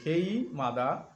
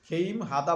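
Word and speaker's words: 게임하다: খেইম হাদা মানে কি খেইম মাদা নিয়মটি হিয়তের কাছে গিয়ে উচ্চারণ হবে খেই মাদা অর্থাৎ গেম খেলা করা খেইম হাদা বললেও সমস্যা নাই যারা একটু কাঁচা আছেন তারা বলবেন খেম হাদা সমস্যা নাই এভাবে উচ্চারণ করলেও সমস্যা নাই নতুন অবস্থায় কোরিয়ান ভাষা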